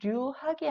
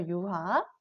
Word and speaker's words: 유학: 자, 세 번째는 류학이 아니라 그렇죠. 유학. 네 번째는 뇌절이 아니라 그렇죠. 예절 이런 식으로 우리가 탈락을 시켜서 소리를 내게 됩니다.